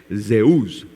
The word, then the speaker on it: Zeus: a su Dios Zeus Sí y Zeus se pronuncia en en griego se dice Zeus Zeus Sí en griego y por qué hago